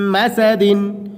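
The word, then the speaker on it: مسد: মিম এখানে ধরে রাখতে হবে মিম মিম জবর মা সিন জবর সা দল দুই জের দিন মিম মাসাদিন মিম মাসাদ করলে কি হবে?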